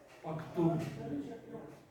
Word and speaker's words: Paktue: I read it Pakt. Why? UE at the end indicates that the letter preceding it is not a Greek letter. It's just like Vogue. Do you pronounce it Vogue? It's Vogue. Rogue. Do you pronounce it Rogu? It's Rogue. Paktue.